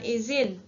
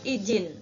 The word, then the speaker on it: izin: Contoh di lafal, kata izin diucapkan izin, ya, bukan izin, tetapi memakai huruf Z, tidak memakai huruf J, ya. Jadi izin dibaca izin, tidak dibaca izin.